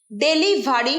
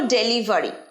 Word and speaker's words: ডেলিভারি: ডেলিভারি ভুল উচ্চারণ, অনেকেই বলো ডেলিভারি, না ডেলিভারি, ডেলিভারি। আরেকবার ডেলিভারি।